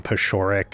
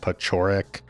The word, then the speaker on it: Paciorek: My sins are more like saying Tom Paciorek instead of Tom Paciorek, or Franklin Gutierrez instead of Franklin Gutierrez.